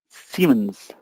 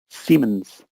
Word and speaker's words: Siemens: Next, just for pronunciation here, it's Siemens. Siemens.